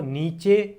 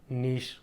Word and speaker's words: niche: और कई लोग हम इंडियन माइंडसेट से इसको जो हम प्रोनाउंस करते हैं वो नीचे या नीच बोलते हैं, लेकिन वो सही नहीं है। इसका राइट प्रोनाउंसिएशन है नीश।